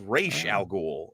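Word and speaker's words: Ra's al Ghul: Yeah, it's pronounced Falcone. And then this gets re incorrect. It's re Al Ghoul.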